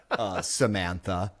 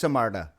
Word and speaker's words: Samantha: I don't see why you're being like this, Samantha. Like saying the lady's name. Yeah. Yeah. She's like, it's pronounced Samarta.